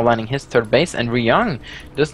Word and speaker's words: Ryung: I read this the Y. Ryung. This is a lot easier for me because in Norwegian, the Y is pronounced differently. It's pronounced E. Ryung, so it's very much easier for me to say it that way.